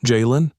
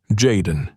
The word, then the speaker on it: Jaden: "Yes, Jalen?" she said, mispronouncing his name again. "Jaden," he corrected softly.